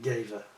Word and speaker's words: Gewehr: I think they pronounce it gever gever.